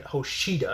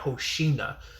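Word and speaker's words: Hoshina: you have Hosa which I think I kept pronouncing Hosida. I kept saying Hosida instead of Hosa.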